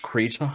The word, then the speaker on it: Krita: I believe it is pronounced Krita.